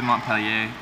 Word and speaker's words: Montpellier: niagara right now i'm going to montpellier i i know or more people if you're saying it french-like i know you don't